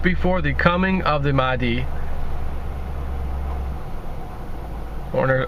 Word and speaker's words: Mahdi: the coming of the Mahdi, or if that's pronounced Mahdi, even though there's no A after the H, but nonetheless, which states